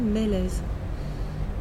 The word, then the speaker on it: Mélèse: et aussi le message je m'appelle delphine mélèzes et même si c'est pas l'origine de mon nom tout cas le sont ressemble exactement où l'arbre qui s'écrit m avec des accents et le mélèze et